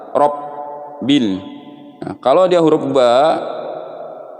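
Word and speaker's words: رب: Nah, ba-nya ini keseringan orang bacanya tuh seperti huruf fa. Rob masuk ke huruf fa. Nah, ini fatal ya, harus masuk ke huruf ba. Kalau huruf fa ini bibirnya tidak bergetar, Robbil.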